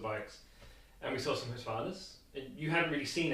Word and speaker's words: Husqvarna: I still don't know how to pronounce it correctly. It's Husqvarna.